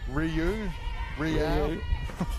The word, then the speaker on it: Ryu: Re as in Reed, O as in you, Ryu. I said Ryu like Andre Ryu.